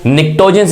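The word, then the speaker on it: pnictogens: So group 5 elements को निक्टोजेंस भी कहा जाता है। पी इसमें साइलेंट होता है क्योंकि भाई आपको पता है एटमॉस्फेयर में नाइट्रोजन की परसेंटेज काफी ज्यादा है।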